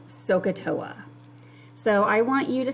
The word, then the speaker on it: SOHCAHTOA: you to write down and the acronym is pronounced socatoa so i want you to start with capital